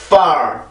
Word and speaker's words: far: 이거 절대 빠, 파, 빠, 파 이렇게 하는 게 아닙니다.